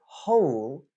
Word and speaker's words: whole: sounds all all all okay whereas the word whole is technically four sounds right H whole whole